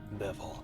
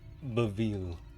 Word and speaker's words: Bevil: What if it was always Bevel? This is when you find out you've been mispronouncing his name his whole life. It's Beville.